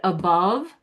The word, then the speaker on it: above: The above part, it's spelled with an O, but it's the stress syllable. You hit the bov, right? So that's that sound. It's the bov, it's the stressed one, but the unstressed one, the A, is not pronounced or a. It's pronounced and that's the schwa, and that's the neutral sound.